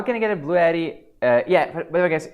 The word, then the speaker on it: BLUETTI: How can I get a BLUETTI? Yeah, by the way, guys, it's BLUETTI. It's not Blue Yeti. It's not the same brand.